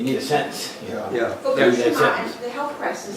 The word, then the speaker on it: Fukushima: How do you say it with the emphasis on the second? Fukushima.